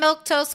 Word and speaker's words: Milquetoast: I'm Milktose. That's how you say my name.